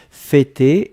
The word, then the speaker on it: fêter: F-E, accent circonflexe, T-E-R. D'accord? Fêter, et on prononce bien le pour l'accent circonflexe.